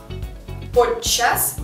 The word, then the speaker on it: подчас: Длинное че, то есть удвоенное че у нас здесь идет в словах. Подчас, подчас, подчас, подчас.